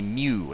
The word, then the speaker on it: mu: written as mua but it should actually be Mew it's pronounced Mew like a cat let's all say